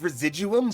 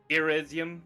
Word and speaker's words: residuum: It's residuum. But I love that he said it wrong. That feels in character. Yeah, irresium. Whatever he said.